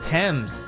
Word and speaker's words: Thames: Oh, it's pronounced Thames.